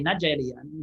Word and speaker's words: Nigeria: So when African hear that in English, they did not know how to pronounce the way British were saying it. So they just say Nigeria, like Nigeria, it's just two different words, but together.